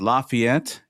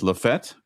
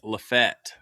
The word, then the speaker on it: LaFayette: Um, so it's not pronounced Lafayette. It's Lefet. Correct. Fet. The locals say it. Lefett.